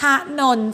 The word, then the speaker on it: ถนน: เส้น นี้ อันตราย มาก คำ สี แดง ของ คุณ ครู คือ คำ ว่า ถนน เห็น ไหม คะ ท้อ ท้อ อ่ะ ถ อยู่ หอ นอ อก เนาะ หนุน ประโยค ที่ 3